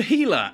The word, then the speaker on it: Gila: the Healer and yes that is how it's pronounced it's named after the Gila monster which